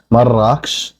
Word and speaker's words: Marrakesh: In Darija or Arabic, Marrakesh would be pronounced Marrakech, but I don't believe it has any actual meaning behind the redness of it.